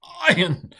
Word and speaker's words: ayin: once said, is the sound of incipient vomiting. Ayin. That's a little exaggerated, but ayin. So it's a strong glottal stop.